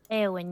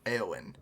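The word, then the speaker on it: Éowyn: Am I pronouncing that right? Eowyn, yes. Eowyn.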